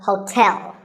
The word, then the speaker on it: hotel: number 12 is hotel there are two syllables like the english word tell as in tell me the stress is on the second syllable so hotel a related word is